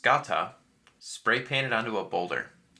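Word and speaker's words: σκατά: the movie you can see a Greek word pronounced scata spray painted onto a boulder which roughly translates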